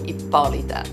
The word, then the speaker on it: Ippolita: The accent's on the second syllable, IPPOLITA.